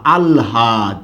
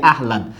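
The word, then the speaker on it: আহ্লাদ: লিখলাম বলুন তো আলহাদ যদিও আমরা অনেকে উচ্চারণ করি আহলাদ আহলাদে আটখানা না আলহাদে আটখানা কি বলুন তো ভাই আলহাদে আত আই থাকবে পরে আছে চলে আসবে আগে আর হসন্ত হবে আল হ টা আগে আছে চলে যাবে পরে দয় হসন্ত হবে আল হাদ সবাই আশা করি বিষয়টা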